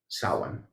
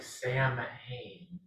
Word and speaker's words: Samhain: Samhain. That's not how it's spelled. Yeah. Yeah, it's spelled like Sam Hain.